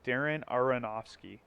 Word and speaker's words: Darren Aronofsky: his name I always say his last name wrong, but it's Darren Aronofsky, and he produces, he writes it, and you